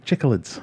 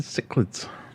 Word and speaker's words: cichlid: here gb um and corp says it's pronounced chicolids and cichlids chiclets chiclets right so we've got to